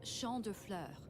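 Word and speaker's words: Champs de Fleurs: that mitsuru would own it's shandur it was shandur that French is funny it means Field of Flowers this is the place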